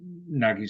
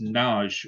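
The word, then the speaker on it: Nagy: no no no no the why is silent he said it's a Hungarian name why isent and it's NJ or nag but NJ is it's how it's pronounced over there I was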